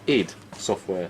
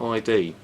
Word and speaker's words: id Software: So 2DS then um made by It's actually pronounced ID software, not ID.